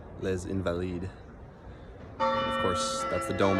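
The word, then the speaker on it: Les Invalides: So, correction to my earlier pronunciation. Place is called Le Invalid.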